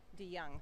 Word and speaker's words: DeJong: How do you pronounce her last name? DeYoung. Thank you.